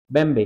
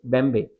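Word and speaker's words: Mbembe: The term वास कॉइ बाय the Cameroonian philosopher and political theorist अकेले बम्बे। ठीक है? एम is silent. ठीक है? हां अकेले बंबे इन ह सेमिनार 2003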